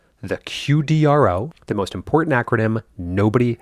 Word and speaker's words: QDRO: QDRO, Qualified Domestic Relations Order, pronounced, for what it's worth, QDRO, which sounds like something you'd order at a Tex-Mex restaurant, but is actually a